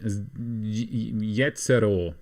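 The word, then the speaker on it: Jezero: Jetzero, just like you'd pronounce it in German.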